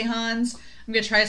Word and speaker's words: Hannes: And they pronounce his name Hannes, and they pronounce I've been calling her Mikasa, but they say Mikasa, and I'm like, I don't know what's what. I'm the worst at pronouncing names. So I'm going to try to say Hannes. I may say Hans.